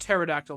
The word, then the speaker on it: pterodactyl: So, the P is also silent helicopter. Nope. No, it's just pterodactyl Mona. The P the ter and pterodactyl has the same origin as the has the same origin as the petur and helicopter.